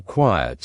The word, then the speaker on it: quiet: Tip: Quiet has two syllables when you say it, but quite has only one.